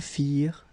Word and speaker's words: firent: Remember, ending ENT for the plural, you don't pronounce it.